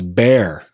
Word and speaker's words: Bexar: I think it's Behar. Somebody help me out. It's Bear. The X is silent. It's Bear.